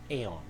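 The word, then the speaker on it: AEION: And then he took what's called the AON and it's spelled A E I O N as you see on the screen here.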